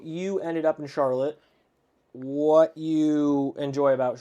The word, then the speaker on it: Charlotte: have a town that's spelled identical but we call it Charlotte it's charlot charl lot in Vermont and a lot of